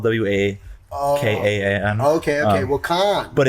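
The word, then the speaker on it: Wakan: before, but places like maybe Sonic Bloom and Wukan has a similar crowd as well. Oh, there's a full Wukan. Yeah, exactly. Yes. Fuck. I mean, it's called Wukan.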